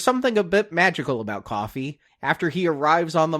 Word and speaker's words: Coffey: But when the movie starts, a 3rd inmate arrives, a very large man named John Coffey, pronounced like the drink but not spelled the same, played by Michael Clarke Duncan.